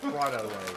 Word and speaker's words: Frito-Lay: It's pronounced Frito-Lay.